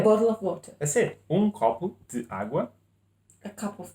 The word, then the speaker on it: copo: A copa de água. Copo. Oh, it's male. Copo de água.